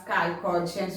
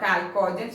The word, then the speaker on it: chalcogens: Which group is known as chalcogens, or which family is known as chalcogens? It is coming oxygen family, or group 16 is known as what? Chalcogens, or some of them they will pronounce it chalcogens.